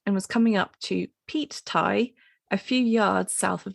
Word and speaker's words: Pete Tie: It's spelled P-E-T-E, as in like Pete, someone called Pete. Pete? Yeah. Yeah, I thought it was going to be like Pete, as in the, the fuel. P-E-A-T.